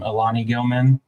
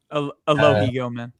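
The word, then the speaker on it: Alohi Gilman: We signed I can never say his name. Alani Gilman. Is that it? Aloh Gilman. Aloh Gilman. Yeah.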